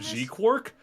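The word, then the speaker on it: GQuuuuuuX: It's technically pronounced Gundam G quark, but it is Q and then like nine U's and X.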